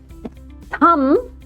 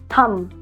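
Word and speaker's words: thumb: पढ़ते हैं इसको क्लाइम थंब मुंह भी नहीं बनाना है ब के लिए लिप्स भी आपको ऐसे नहीं करना है। ओके थंब बस बी है ही नहीं।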